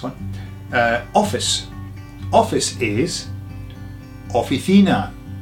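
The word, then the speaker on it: oficina: Just got an ena on the end. Offtheina. Officina. Next one.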